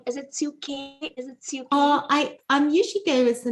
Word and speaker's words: Suke: Is it Suke? I'm usually go as the name Suke, but a few people call me Suke. Okay. But Suke is good. Suke, I still answer to.